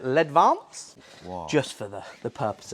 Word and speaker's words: Ledvance: I'm not sure they're French, but I'd pronounce it Ledvance.